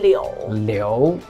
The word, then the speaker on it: 流: In Chinese, it's pronounced liú; but in Japanese, it's pronounced ryū.